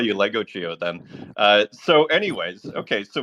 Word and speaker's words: Legogio: And am I pronouncing your name right, Legogio? Yeah, Legogio. It's both are fine. I kind of like Legogio.